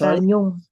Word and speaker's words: Nhung: It's Nhung. Nhung.